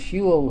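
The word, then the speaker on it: Whewell: genics and it comes from William huel that's pronounced huel who was basically a a mid 19th century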